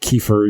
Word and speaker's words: kefir: that's like um a key for southern one uh it's spelled k-e-f-i-r like like key for you know your weed